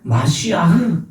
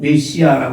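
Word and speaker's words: מָשִׁיחַ: 히브리어로 히브리어로 메시아 그 히브리어를 발음하면 마시아흐 근데 그걸 우린 메시아라고 부르죠 그거를 헬라 말로 번역한게 그리스도 그 기름 부음 받은 자 메시아라는 건 뜻이거든 이게 뭐냐?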